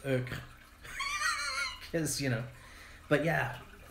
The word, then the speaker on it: euchre: It's euchre.